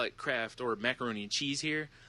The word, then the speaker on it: Kraft: Like, we call it Kraft or macaroni and cheese here. They call it Croft dinner because for some reason they don't know how to say the word Kraft.